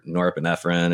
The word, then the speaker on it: norepinephrine: And then you got the norepinephrine.